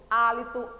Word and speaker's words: hálito: vamos ver de novo hálito herói e no horta humano a letra h é pronunciada nessas palavras você está ouvindo o som da letra h não né então colocar aqui não